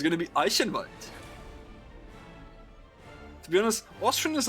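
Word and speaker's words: Eichenwalde: can write if you want the correct german pronunciation as an austrian it's going to be ice invite to be honest austrian is a little softer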